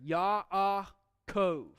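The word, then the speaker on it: יַעֲקֹב: Kind of gives you a little pause in there, so it's just not Yaakov. Some kind of massive wall of A sound there. Yaakov. Gives you a breather, lets you know that there's a syllable it's ending there, because as we looked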